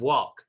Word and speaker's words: walk: honest, us native speakers, we don't use our tongues to touch the top of our mouths in that word of walk. We don't. We just say, I like walking. I like walking. I like walking. My tongue is actually down.